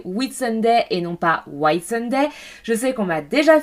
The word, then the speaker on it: Whitsunday: depuis les Whitsunday.